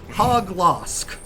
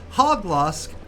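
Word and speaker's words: Hauglosk: I'm pronouncing this right hog lost h-a-u-g-l-o-s-k but hog loss whereas hurato is werewolf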